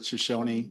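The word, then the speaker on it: Shoshone: The tribe pronounces it Shosonyi and so do we.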